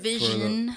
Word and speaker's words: Univision: Univision. For the ones that don't speak Spanish. For those. That's how it's pronounced in English.